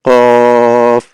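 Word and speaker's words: ق: আরেকটা হচ্ছে কফ, কফ, কফ, এরকম। দেখেন, আপনারা যদি একটু খেয়াল করেন এখান থেকে এ ফার উচ্চারণটা কি হবে?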